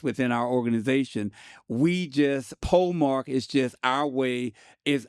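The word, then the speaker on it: polemarch: and he's called I'm gonna spell it and you tell me how to say it. Yes. P O L E M A R C H. Yes. How do you say that? Pole mark. Polemark. Okay. A polemark.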